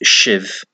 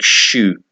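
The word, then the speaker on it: sibh: I've always known it to be pronounced shiv, but I heard one pronunciation was like shoe, like on your foot.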